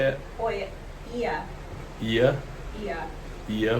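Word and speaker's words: Oia: We went to Oi, is that how you say it? Oi, Ia. Ia? Ia. Ia, we went to Ia, which is like the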